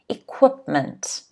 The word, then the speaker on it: equipment: difficult one okay equipment equipment the stress is on the second syllable again so it's equipment all right it's the tools